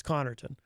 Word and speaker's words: Connarton: in a way because the first syllable ends in a double consonant, C-O-N-N, which usually indicates that is where the emphasis would go. Connarton, not Connarton.